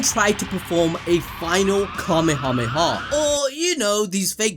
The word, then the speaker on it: Kamehameha: woodwork because of Fortnite, they would say it like this: Dragon Ball Mythic in Fortnite 10 times stronger. So we all know the Kameyamama.